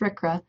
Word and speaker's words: RCRA: The Resource Conservation and Recovery Act, abbreviated RCRA and pronounced RCRA, is the cradle to the Grave Act.